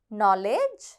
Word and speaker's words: knowledge: Psychology, honorable, knowledge, leukemia. இப்போ நீங்கள் இந்த 4 வார்த்தைகளை பார்த்தீங்கன்னா இதில் சைக்காலஜியில் ப வந்து silent, honorableல h silent, knowledgeல k silent.